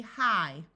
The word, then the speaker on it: high: time in English words G and H together are silent so IG here is going to say I so this word will be high fight might sigh sight